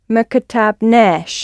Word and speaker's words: ما كتبناش: And put the stress, hit the last bit of the what you're going to say with an ash. ما كتبناش.